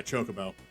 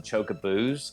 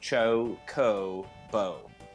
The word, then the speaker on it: chocobo: I had a friend in middle school that used to call them chocoboos, and I don't know why. There's no second O at the end there. There's no second O at the end, but he used to pronounce it like that.